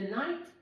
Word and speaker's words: knight: Okay, the rook, the bishop, the knight with a silent K as well.